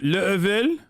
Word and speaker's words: Laval: It's pronounced Level? No shot, really?